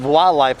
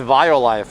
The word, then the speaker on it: Violife: you called it walleye i always said wildlife and one day art's like i think it's violife and me and words